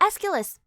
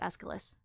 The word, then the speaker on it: Aeschylus: Aeschylus? Ah, Aeschylus! There we go. Thank you. Yeah, that is how it's pronounced, Aeschylus.